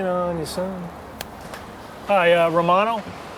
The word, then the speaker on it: Romano: your son hi uh Romano how do you spell that r o m a n o Romano like the cheese man I hate cheese